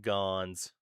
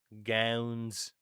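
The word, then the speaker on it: Gaunce: I'll have you I'll have you know that the Bruins pronunciations also called them gowns when when Brennon GS was on the team.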